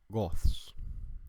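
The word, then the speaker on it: 𐌲𐌿𐌸𐍃: Esta palabra sería pronunciada como goths. Goths. Y esto es una regla. Antes la D se muerfa, se transforma a un thorn antes de una letra sorda, como la letra S. Entonces es pronunciado como Goths.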